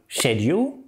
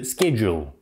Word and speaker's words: schedule: допустим слово расписание график британцы скажут schedule а американцы schedule слышите совершенно разное schedule и schedule и Казалось бы это разные слова или одно и то